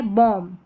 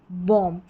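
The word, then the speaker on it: balm: जैसे लम टम com climb और ये है बॉम। क्या है? बॉम। बी यहां पर साइलेंट है।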